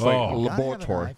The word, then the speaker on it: laboratory: I hate when people skip that syllable. Cameraman. Ordinary. Number two. But it's laboratory.